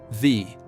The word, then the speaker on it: Wie: Word number 8, Wie. This means how. Essential question word. How are you? Wie geht's? Wie geht's? V is pronounced like V. The W in German sounds like V in English.